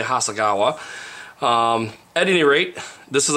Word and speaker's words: Hasegawa: is 148 scale and it's by Hasegawa or Hasegawa I've heard some of my Japanese friends tell me that it's pronounced Hasegawa here in America we say Hasegawa at any rate this